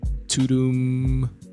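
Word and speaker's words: Tudum: spelled Tu duu M Toom after that sound that Netflix makes when you turn it on or press play on something which is pretty dope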